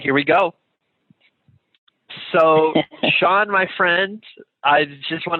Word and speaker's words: Shaan: to have you here my name is sean it's spelled actually s-h-a-a-n and i live in los angeles right now mostly anytime i tell anyone my name they almost always or they almost never spell it correctly because it's not a very common spelling for the name sean at least here in this